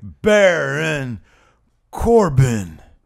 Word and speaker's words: Baron Corbin: Baron Corbin.